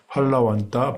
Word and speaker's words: फलवन्त: Bây giờ nó lại chạy một xí 아주 실성말레키고 자 펄러번떠 번떠 번네 오빠야 펄번떠가 아니라 펄러번떠라고 이렇게 발음을 하더라고요.